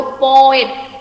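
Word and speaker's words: poet: चलो ओके, अभी ये बात बोलो, पोएट। पोएट इट इज नॉट ए मोनोसिलाबिक word, क्योंकि ये डिफ्थंग नहीं है। मैं जब पोएट प्रोनाउंस करती हूँ, ओ एंड ई दोनों अलग अलग प्रोनाउंस करती हूँ।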